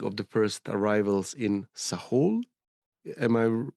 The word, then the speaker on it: Sahul: I have this uh note here asked about evidence and dating of the first arrivals in Sahul.